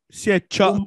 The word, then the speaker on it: Siechab: Siechab, pas cha. Siechab. Il y a le coup de glotte.